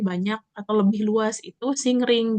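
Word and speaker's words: 森林: Eh, nah ada yang hutan lebih lebat, yang pohonnya lebih banyak atau lebih luas itu singring. Jadi singring ini adalah perpaduan antara eh mori dan hayasi. Jadi dibacanya sing ring.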